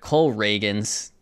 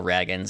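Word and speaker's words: Cole Ragans: and make this trade oh by the way pronunciation of adjustment I just remembered Cole reagin not Cole Ragin I know that but I it reads more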